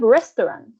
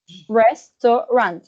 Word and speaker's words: restaurant: Then we have restaurant, restaurant. It has 3 syllables.